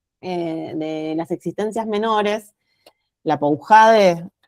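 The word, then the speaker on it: Lapoujade: E en este libro del que yo les hablaba eh de las existencias menores, la Poujade, según Sandra se pronuncia así, la Poujades eh habla justamente del acto de instauración, ¿no?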